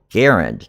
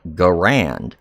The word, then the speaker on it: Garand: And like fun fact, the Garand, the M1 Garand, it should be pronounced Garand, not Garand.